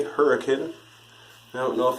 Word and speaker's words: Hurricane: of hurricane Utah yeah it's spelled like hurricane but people around these parts say hurricane I don't know if